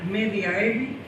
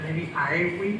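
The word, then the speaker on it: medii aevi: El señor escribió en latín una obra llamada Historia medievi, o sea, medievi, perdón, porque la V en latín se pronuncia como la U, a temporibus Constantini Magni,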